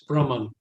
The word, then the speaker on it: Brahman: And Brahman has no long. It's Brahman.